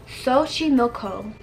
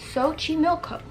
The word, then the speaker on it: Xochimilco: the name right here I'm going to attempt to pronounce it by Google giving me the pronunciation as Xochimilco Xochimilco but they are in